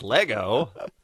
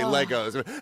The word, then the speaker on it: Lego: And now Bean will be correcting people who say Legos. No. Actually, it's Lego.